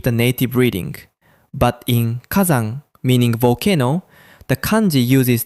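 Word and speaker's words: 火山: native reading, but in kazan, meaning volcano, the kanji uses the on'yomi reading zan. Because of a sound change called rendaku, the s becomes z. So, san becomes zan.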